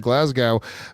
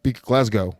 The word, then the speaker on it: Glasgow: I will say shout out to everyone that is purchasing tickets for an evening with Michael Bisping in London, Manchester, Dublin, and Glasgow. Glasgow, sorry.